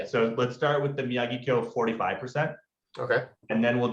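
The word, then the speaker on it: Miyagikyo: Yeah, I feel like the official Japanese way, I believe, is Miyagi-Kyo.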